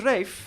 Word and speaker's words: Ralph: Apparently, Rafe is the posh British pronunciation of Ralph, which doesn't make sense. Ralph has a ph in it. It's fancy enough. My name is Rafe.